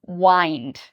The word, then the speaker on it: unwind: And I want you to pay careful attention to pronunciation here, because many students pronounce this as unwind, but the pronunciation is wind, unwind.